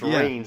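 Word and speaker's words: Reigns: But you're like, but it's pronounced Rains, and then you see it, and you're like, oh, that's good.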